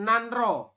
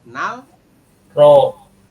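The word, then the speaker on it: 난로: ini dibacanya apa berarti tulisannya nanro tapi kita membacanya adalah Nal ro ya Nal low seperti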